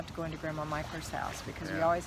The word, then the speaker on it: Mickler: So- M-I-C-K-L-E-R, pronounced Michler. and that's a North Florida name. Well, it's not in other parts of the country, and in some parts of the country they call it Mickler, but down here it's pronounced Mickler.